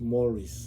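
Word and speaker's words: mores: m o r e s is actually pronounced pronounced moris and in the context in which it is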